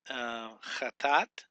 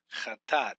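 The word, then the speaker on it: חטאת: It's just two syllables. Cha, chat, tat, chat, tat. So chatat. That's how you pronounce it.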